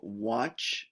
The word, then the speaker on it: watch: We have watch, not watchy. So be careful of the Congolese. It's watch.